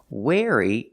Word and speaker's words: wary: Wary pronunciation wary using the air sound like chair and hair.